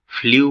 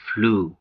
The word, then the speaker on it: ফ্লু: টেন্সে এর ভুল উচ্চারণ করে ফ্লু বলে থাকি কিন্তু এর সঠিক উচ্চারণ হচ্ছে ফ্লু প্লাই ফ্লু তারপরেরটি হচ্ছে